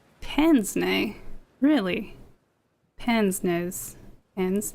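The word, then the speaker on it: pince-nez: beard and an old-fashioned Pence I'm going to pronounce this wrong it's not Pence Nez it's like now I gotta check it's I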